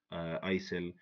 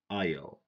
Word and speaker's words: aisle: If we read these words, someone who doesn't know the silent letters is gonna say, or she's gonna say, hour, dipped, but get, sin, sign, recept, fasten, somi, folk, isel, klemb, hymn, handkerchief. This is wrong, okay? This is wrong. If we know the silent letters, we're gonna say our, debt, budget, sign, receipt, fasten, sum, folk, aisle, climb, him, handkerchief.